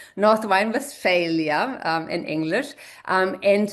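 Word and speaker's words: Nordrhein-Westfalen: So everybody who wants to also learn a little bit German, this is how your state is pronounced in German, Northwine, Valia um in English.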